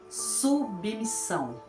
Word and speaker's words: submissão: que é a palavra submissão submissão falamos rápido submissão Nós escrevemos com dois s para ter o som perfeito submissão se eu coloco um s só vai ficar subão está incorreta temos exemplo também da palavra